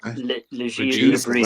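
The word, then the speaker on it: Le Bris: I know how to pronounce his name. Régis Lebris. There you go. Lebris. That's TV for you. Because I would have gone, as you did, Fletch, I'd have gone without the S's because it was French,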